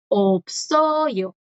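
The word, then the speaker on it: 없어요: La S, claro que puede sonar porque ya aquí le sigue una vocal. Opsoyo.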